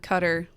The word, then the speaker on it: Qatar: is that right um the brits call it cutter what do you call it qatar okay thank you for